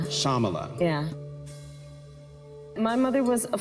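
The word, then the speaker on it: Shyamala: your mother Shala so the y is silent shamala shamala yeah my mother was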